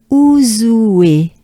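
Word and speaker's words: Ouzouer: Ouzoué. So it's almost oué, right? Ouzoué.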